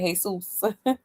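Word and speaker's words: Jesús: Yeah, it's crazy that she calls him Jesus Jr. Didn't sacrifice for me or anyone else. I say it the Spanish way. Right, Jesus. Nah, for real. Because that's actually how it's supposed to be pronounced.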